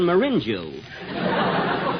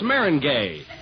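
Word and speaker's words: meringue: know I'm famous for my lemon mingu binu well that's marangay oh Mar oh is that the way it's pronounced oh see you learn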